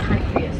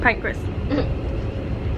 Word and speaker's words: Pancras: Pancras and I'm so excited. I love sushi. Oh boy. Pancreas again. Pancras. Pancreas, St. Pancras.